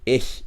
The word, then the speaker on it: ich: difficult to understand you for the word ich most germans actually find it more natural to replace the ch with a sound and say ish instead of ik yes that's exactly yo